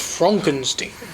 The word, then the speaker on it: Frankenstein: - Frankenstein Frankenstein froggen that's frankenz that's pronounced Frankenstein now this movie oh my